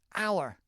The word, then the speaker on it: hour: 11th Hour the 11th Hour emphasize that th 11th hour and again it's not it's spelled h o you are as you know but we don't pronounce the h it's very weird there's another there's a